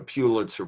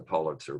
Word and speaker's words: Pulitzer: The Pulitzer Prize, no, it's the Pulitzer Prize.